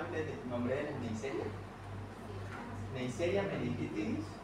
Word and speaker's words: Neisseria: Neisseria meningitidis y de la produce la gonorrea, Neisseria gonorrea. Así se pronuncia.